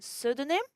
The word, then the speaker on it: pseudonym: N in autumn, and the P in pseudonym, and in the word psychology.